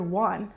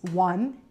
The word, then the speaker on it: one: Um, the first time I saw the letters, well, the word one, I pronounced it as on. And so, and someone had to correct me and say it's not on, it's one, it's not, it's two,